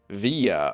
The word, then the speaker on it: Via: gonna hate yourself but my last name is pronounced via okay all right so david